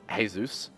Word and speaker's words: Jesus: it's a it's like it's pronounced hey-zeus actually now that I